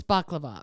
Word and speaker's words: baklava: to make a balaclava is that how they say it baccalava they say they say it's baklava but they say it's so different yeah i think it was bakulov something like that yeah a baklava star